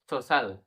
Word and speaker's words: social: SOCIAL সোশ্যাল, সোশ্যাল এখানে সি পরে আই থাকলে সাইলেন্স সি।